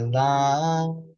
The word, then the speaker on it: Lam: The Bija mantra for the root chakra or the Muladhara chakra is Lam. We pronounce it with the long A, so it'd actually be Lam. You would say more like L-U-M, the L-A-M, but this is really great.